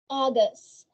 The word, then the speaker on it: August: August. See? Letters A and U sounds like O.